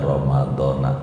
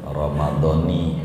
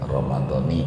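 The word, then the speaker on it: رمضانِ: bukan niat, bacaan niat, tapi aib bagi orang ngaji tuh bacanya Ramadona tuh aib gitu, Ramadoni gitu bacanya, baru rapi gitu urusan nahwunanya gitu, karena ada mudhof ilaih di depan.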